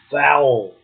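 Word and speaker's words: fowl: otherwise for oil well how do you pronounce that word f o w l that's foul which is yeah that's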